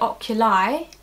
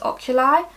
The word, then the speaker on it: oculi: Now the reason I pronounce it oculi is because it's around your eye area. Oculi, eye.